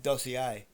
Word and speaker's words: dossier: The Drey, D-R-E-Y, Dossier. Okay, D-O-S-S-I-E-R, Dossier. Yeah, I know, it's spelled different how it sounds. Probably a little bit French, no? The Dossier.